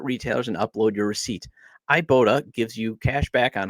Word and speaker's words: Ibotta: Just go to the App Store or Google Play Store and download the free Ibotta app and use code LOCKEDONMLB. That's IBOTTA. Also, it's pronounced Ibotta in the Google Play or App Store and use code LOCKEDONMLB.